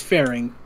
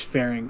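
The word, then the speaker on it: Ferinx: names i make uh it's fairing it's fairing so okay let's say it's spelled weird uh pharynx f-e-r-i-n-x i'm guessing something to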